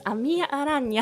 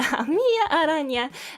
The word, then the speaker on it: Amiya Aranha: But please note the nya at the end of my name. It's not Aranha, it is Aranha. The nya sound is very important because it sounds like a kitty. It sounds like a kitty, and I love cats, and yeah, it's just a cute sound. You need to say nya in my name.